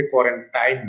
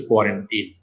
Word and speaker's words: কোয়ারেন্টিন: অনেকে এটাকে কোয়ারেন্টাইন বলে, আসলে শব্দটার সঠিক উচ্চারণ হচ্ছে কোয়ারেন্টিন।